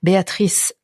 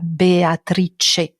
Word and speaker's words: Béatrice: intéressant aussi de voir la prononciation Béatrice en particulier Béatrice en français c'est trois syllabes en italien c'est quatre Sy la Béatrice donc même le son est différent moi au niveau intime